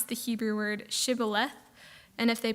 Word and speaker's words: shibboleth: by asking them to pronounce the Hebrew word shibboleth and if they pronounced it incorrectly as sibboleth they were killed um and there were about